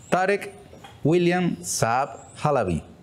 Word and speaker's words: Tarek William Saab Halabi: Tarek William Saab Halabi. Bienvenido. Muchas gracias, Ernesto, por la oportunidad. ¿Lo pronuncié bien? Lo pronunciaste bien, primera vez que nombran los dos apellidos.